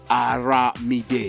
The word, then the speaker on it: Aramide: I was pronouncing in French, Armide.